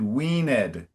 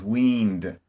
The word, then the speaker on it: weaned: uh uh you pronounce the past tense of verbs in a nice classical English way like Shakespeare. So you said weed and that's that's beautiful.